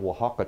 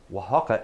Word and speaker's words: Oaxaca: for this dish if you can please find will hakka cheese now if you need the way you spell that and get ready to get a pin because here it is Oh an X ACA Oaxaca is spelled Oh a X ACA will hop